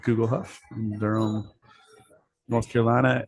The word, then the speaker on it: Guglhupf: my new restaurant uh and bakery it's called Google huff and their own North Carolina and Chapel Hill Google Huff how do you spell that g-u-g-l h u p f are you